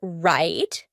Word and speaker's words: write: write did you hear write nope instead when I said that final T my tongue was stopped at the top of my mouth that's why we call it a stopped T right right let's look